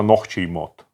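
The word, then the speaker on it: нохчийн мотт: То есть, смотри, чеченский язык нохчин мот пишется. Помнишь, там нохчин? Нохчин, А мот. по идее, наверное, произносится нохчий мот. То есть последнее Вот «н». это «н», да, оно не надо сильно произносить, я так понял, что.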